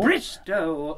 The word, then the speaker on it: Bristow: anything today but Mr Bristol Bristo oh oh oh Bristo rhymes with no we don't want anything